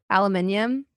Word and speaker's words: aluminium: spelled differently or whatever what do you say aluminium yeah and apparently that's the original you saying Americans are